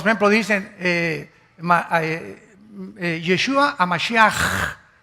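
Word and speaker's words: משיח: Todos, por ejemplo, dicen Yeshua a Mashiach. O sea, Jesús el Mesías. Se escribe Mashiach. Jesús el Mesías en el hebreo. Pero se pronuncia la CH. Yeshua Mashiach.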